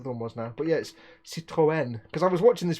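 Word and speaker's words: Citroën: you're supposed to say Seto n not Citroen I didn't realize that this you have to pronounce the e because it's accented there was we also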